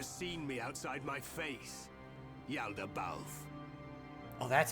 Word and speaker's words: Yaldabaoth: You have never seen me outside my face, Yaldabaoth. Oh, that's how you But pronounce even that. if I am without it, I thought it was you will Yoldabaoth.